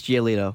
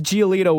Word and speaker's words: Giolito: oh I got it it rhymes with gelato sort of Lucas giolito Lucas giolito was the other pitcher